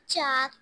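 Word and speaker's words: chalk: में को silent letter चाक चाक चाक में के लेटर साइलेंट है एल एल L very good ताब्या sentence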